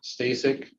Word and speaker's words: Stasik: for the record sir name is stay sick last name is spelled s t a s i k Mr